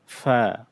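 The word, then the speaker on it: ف: ফা ফা ফা of cough cough calf calf calf calf লাম লাম লাম মিম মিম ম মিম ফা ফা এটা আমরা পা পড়বো না ফা এটা অক্ষরটা হলো ফা ফা কফ এই অক্ষরটাও গলার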